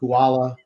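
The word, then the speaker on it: Haula: I do, because it's not the way his name is pronounced. Huala.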